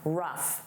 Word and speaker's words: rough: Let's review rough. Rough. Notice that sound, rough.